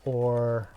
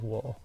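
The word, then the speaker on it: を: O, or... It is a wo. But it's pronounced o. Occasionally it will be said as wo.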